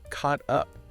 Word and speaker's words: caught up: What about caught up? Again, that ike combination often functions phonetically like a T sound. Since it's followed by the vowel sound in up, it undergoes flapping.